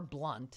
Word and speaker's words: Blount: Bessie Blount, or Blunt if she pronounces it like Mel, the Steeler, Blunt.